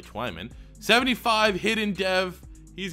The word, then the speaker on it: Twyman: from Pitt Jalen swimming Twyman Twyman sounds a lot better I've heard it pronounced both ways but it's definitely Twyman 75 hit in dev